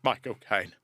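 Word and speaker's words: Michael Caine: U there's uh I don't know, my Michael Kane. And if you say it correctly, his own name sounds like he's saying my cocaine.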